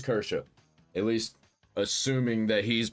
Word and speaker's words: Kirsche: I don't know nothing about this Kersia, is that how you pronounce it? Situation. So, I'm going to see what Yellow Flash 2 has to say about it. So, they're after Kersha again. Pop. Aha, it is Kersha.